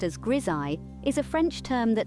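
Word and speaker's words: grisaille: wand now you might wonder what's Gile Gile pronounced as grii is a French term that literally translates to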